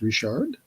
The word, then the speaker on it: Richard: I'm gonna say Richard because Andre is French, sounds like a French name, and in French they pronounce Richard as Richard.